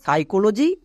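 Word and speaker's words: psychology: জায়গায় আর হয় না যেমন দেখো সাইকোলজি আর নিউমোনিয়া এখানে পি এর পরে এস আছে এবং পি এর পরে এন আছে তাই পি সাইলেন্ট যেমন সাইকো লজি নেক্সট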